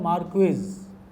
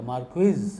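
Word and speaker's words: Márquez: आपको Gabriel Garcia मार्केज, spelling तो उसकी है मार्क्वेज, लेकिन उच्चारण सही उसका जो स्पेनिश जानते हैं उनसे मैंने पूछा, तो मैंने कहा यार इसको कैसे कहेंगे, ये तो स्पेनिश में कैसे बोला जाएगा, मार्क्वेज हम लोग कहते हैं।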